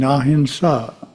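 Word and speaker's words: ahimsa: how would you define ahinsa spelled with an M but it's pronounced with an N such just sounds good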